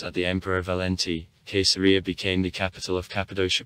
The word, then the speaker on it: Caesarea: letter therefore there was caesarea pay attention that letter c in classical latin was said k and it finally became